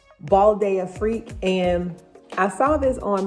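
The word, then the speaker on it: Bal d'Afrique: The next one that I ordered is, it's called Balde Freak.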